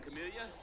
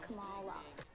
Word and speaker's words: Kamala: Morning, Camellia. Morning, actually. I've been meaning to tell you for years, my name is pronounced Kamala.